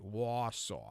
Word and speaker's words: Wausau: Wausau. That's how you say it.